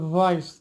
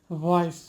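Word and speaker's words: voice: আসবে না, এটা হবে ভয়েস, অর্থাৎ গলার মধ্যে থেকে এটা ভাইব্রেট হয়ে বের হবে, ভয়েস।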